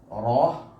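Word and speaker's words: را: റോ നമ്മുടെ നാവ് മോണയുടെ ഭാഗത്ത് മുട്ടുക എന്ന റോ വയനിറച്ചിങ്ങനെ രീതിയിൽ പറയും. അത് കുറച്ച് താഴോട്ട് വെച്ചിട്ട് കനപ്പിച്ച് പറയുക. സീൻ സീൻ നമ്മുടെ നാവിൻ്റെ തുമ്പ് മോണയിലാണ് മുട്ടുന്നത്.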